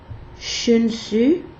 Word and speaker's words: Chunsu: J'ai dit Chu, mais c'est le son Ch. Pour la marque Chunsu, c'est 011 ou 025 ou 016.